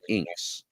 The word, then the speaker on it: INKKS: The organization is called International Neoclassical Karate Kabuto Society, INKKS, or as we pronounce it, INKS, INKKS.